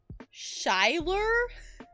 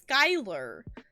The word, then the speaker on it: Skyler: being abducted by aliens shyler sh Wait shyur why would you pronounce it like that it's Skyler what okay minty can